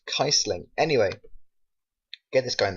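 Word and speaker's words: Kießling: a um a German s so apparently it's pronounced kaisling anyway get this guy and the squad finish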